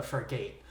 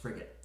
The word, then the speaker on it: frigate: So after he had that sloop for a while, Blackbeard took control of a frigate, which is a warship, right? It's pronounced frigate.